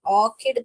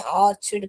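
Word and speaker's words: orchid: यस, यहाँ पर क का स्वर ही निकालेंगे हम। यहाँ पर बहुत लोग इसे भी, ये दोनों वर्ड को बहुत लोग गलत प्रोनाउंस करते हैं, इसे जेफ कहते हैं और इसे ऑर्चिड कहते हैं। ये च नहीं है बेटा, क पढ़ना है इसको। तो ये ऑर्किड पढ़ने का है।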